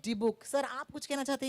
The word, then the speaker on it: Dybbuk: It's D-book. Is that correct? Right, D-book. Okay. Can we all say it together? Okay. 3, 2, 1. Dibuk.